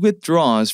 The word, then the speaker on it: withdraws: 쉽게 할 수 있습니다 with 먼저 하세요 그리고 draws 붙여서 발음하시면 모양만 붙여주시고 ound R